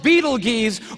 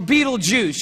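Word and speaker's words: Betelgeuse: It's called Beetlegees or Beetlejuice. You can pick your pronunciation. I'm obviously going with Beetlejuice.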